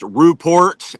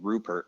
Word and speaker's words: Rupor: I love how you really pronounced Ruport and Oregon. Or I, I, Oregon. yeah, I really appreciate it though. Everybody gets my last name wrong. I've been called Rupert my entire life.